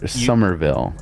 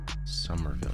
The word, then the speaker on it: Somerville: four gigs delete it oh somewhere Somerville but it's spelled s-o-m-e-r Summerville you can delete Halo